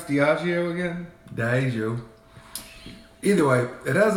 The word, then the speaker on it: Diageo: Hey Zeke, how do you pronounce Diageo again? Diageo.